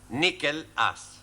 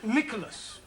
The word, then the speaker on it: Nicholas: Once upon a time, there was a man called Nickel Ass. That's not quite right. No? No. Once upon a time, there was a woman called Nickel Ass. It's pronounced Nicholas.